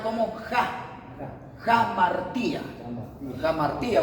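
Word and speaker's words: hamartía: Aquí se pronuncia así como se lee, jamartía. La H equivalente a una J.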